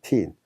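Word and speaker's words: تين: 티인. 무화과입니다. 무화과. 그 다음에 F 발음에 이가 있고 그 다음에 야가 있기 때문에 피, 전치사 인에 해당합니다.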